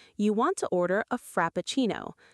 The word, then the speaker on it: Frappuccino: want to order a frappuccino. Let's break it down and say it slowly together. Frap-pa-chi-no. Frappuccino.